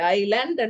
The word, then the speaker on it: island: So இதுல எஸ்க்கு pronounce பண்ணக்கூடாது, இந்த எஸ்க்கு சவுண்ட் இல்லை, ஐலண்ட் தான் நாங்க வாசிப்போம்.